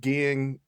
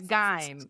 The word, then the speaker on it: Gein: It's Gein, because I've heard it several times.